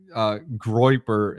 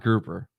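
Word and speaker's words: Groyper: And yeah, Groiper is definitely controversial, but yeah, just study it. Dude, it's Groiper, not Grouper. Groy like a boy.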